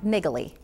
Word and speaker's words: Naegele: With us now is Andy Presti, and he is with Presti and Naegele. That's correct. You pronounced it correctly.